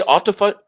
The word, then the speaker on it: autophagy: How do you say autophagy? Autophagy. Autophagy. Phagy. Autophagy. Phagy. P-H-A-G. Phage means to eat. Auto means self. Autophagy means self-eating. So essentially, the body cleans out all of its cells. Self-eating or autophagy.